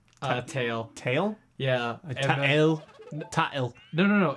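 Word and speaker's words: Tael: can't how do you say that name uh tail tail yeah no no it's okay so it's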